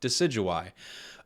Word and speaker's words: Decidueye: answer for you confusing should you buy decidueye it rhymes should you buy decidueye okay where to begin